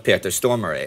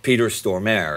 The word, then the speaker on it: Stormare: Dans le clip vidéo de "Uprising", vous avez Peter Stormare (prononciation suédoise) ou Peter Stormare (prononciation américaine) en Amérique mais il est suédois.